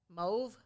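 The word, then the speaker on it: mauve: is that it's mole move pronounced like grove yeah crazy right i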